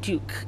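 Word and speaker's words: Duq: Our brand name is called Duke, and it's spelled D-U-Q.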